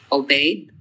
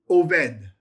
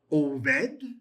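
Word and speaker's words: עֹבֵד: Obed. Very close. You would say Oved. Oved. Why did I use a v rather than a b? It would be Oved.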